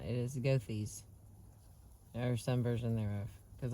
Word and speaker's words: Goethe: Now, I was saying Gautier earlier, but it is not. It is Goethe's, or some version thereof, because I looked it up, and I was saying it wrong in the other chapters, but I'm not going to re-record them.